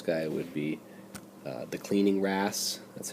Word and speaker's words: wrasse: So a really good example of this guy would be the cleaning wrasse. That's how you pronounce that.